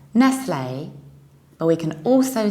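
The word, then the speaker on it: Nestlé: and another tricky one it's not Nestle do you remember how we pronounce the French or Italian endings final accent aigu was a Italian ending for example from penne was a and here we will do analogical same we will say Nestle if you don't know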